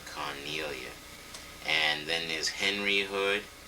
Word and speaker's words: Cornelia: Cornelia. How do you spell that?